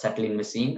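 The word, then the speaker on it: Tsetlin machine: this is called a settling machine even though there is a t in the starting it's pronounced as settling machine and this is based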